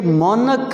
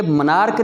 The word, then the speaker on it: monarch: और ये एक और लफ्ज़ MONARCH, इसी से ये मोनक है, मोनक। ये मनार्क नहीं है, बहुत सारे लोग इसे मनार्क पढ़ रहे होते हैं।